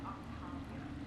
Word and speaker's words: Octavia: That's an impressive barrier, Octavia. Our file says you've been working on shield technology. It's a handheld multi-core solution based on psychological barrier technology. And it's pronounced Octavia.